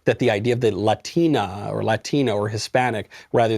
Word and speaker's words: Latina: you pronounce the word latina in english it's pronounced latina or hispanic or i don't know you could get more specific on the nationality it is not pronounced latina because that's not how you say words in